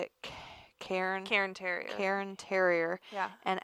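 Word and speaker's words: Cairn: than it was how do you say it Karen Karen Terrier Karen Terrier and actually fun fact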